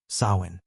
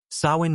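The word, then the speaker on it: Samhain: and most terrifying festival, Sawin, pronounced so.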